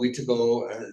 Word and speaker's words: Wendigo: Wendigo, Wetago, several different ways of pronouncing the word.